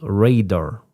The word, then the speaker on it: radar: Yeah, it should be radar. Radar, like ray. Like a sun ray or something. Ray and dar.